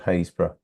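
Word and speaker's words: Happisburgh: Lighthouse called hayra Lighthouse although it's spelled ha a p p i s b u r g HB happurg is yeah is what it's it's how it's spelled but it's actually called hazb you can see a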